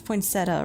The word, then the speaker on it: poinsettia: It's It's spelled poinsettia, but it's poinsetta, right?